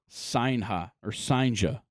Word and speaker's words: Cijntje: It is Jurangelo Sinja is how you say that last name.